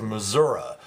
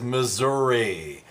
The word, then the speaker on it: Missouri: TV and the commercials she keeps referring to the state as Missour so we said does this bug you and number one answer at 59% the only acceptable pronunciation is Missouri number one answer number